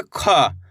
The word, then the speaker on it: ख: इस तरीके से बोलोगे तो का उच्चारण निकल जाएगा, कमल, कबूतर। सिंपल है ख।